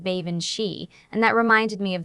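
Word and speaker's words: bean sídhe: He pronounced it like Ban Shei.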